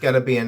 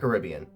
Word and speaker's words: Caribbean: It's pronounced Caribbean, not Caribbean.